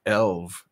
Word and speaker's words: Ulv: Peter is saying, Ulv is pronounced Elv.